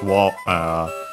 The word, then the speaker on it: を: Then we have the object particle o written as wo and pronounced as such in careful speech and also singing.